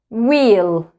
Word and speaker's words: wheel: Wheel. Double E is pronounced like E. Wheel.